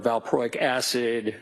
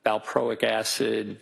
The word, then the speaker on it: valproic acid: I mean, for example, lithium or carbamazepine or valproic acid, those are all mood stabilizers.